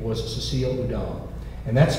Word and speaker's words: Houdin: he married and his wife's name was Cecile udon and that's spelled h-o-u-d-i-n if that sounds familiar to you